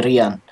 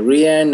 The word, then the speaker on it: Rian: Please call me Rian. It's like they want. I don't know. Is it too hard for you guys to say that name, Rian?